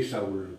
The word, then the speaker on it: Saül: Verset, non, c'est Saul là qu'on dit. Ah, Saül, donc pour Saül, il y a 2 points sur le i. Oh, moi Et- j'ai prononcé Saül. Mais par exemple, si tu le lis en hébreu, Paul, tu le dirais Shaoul. Oh, Shaoul, hein, en hébreu.